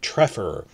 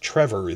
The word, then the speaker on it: Trefor: spy reports on this, I kept calling it Treffer, and Welsh people in my comments section said, no, it's pronounced Trevor, that this is a rule we have with the spelling, F versus double F. Pretty straightforward, and it's important